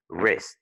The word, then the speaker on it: wrist: And wrist, the W est muet. Mais le R déjà se prononce comme s'il y avait un petit W de toute façon. Parce que le son vient de devant de la langue. Tu dis wrist.